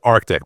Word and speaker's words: ARKTK: because people are it's it is Arctic by the way it's Arctic coldwar but there is a